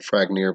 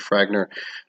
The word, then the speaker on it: Fragner: Fragner is, some people pronounce it Fragnir, but it's really supposed to be Fragner.